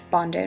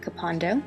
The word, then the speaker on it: Bondo: organization in Bondo Ghana that's Bondo not capando like I had been mispronouncing for a while but it is a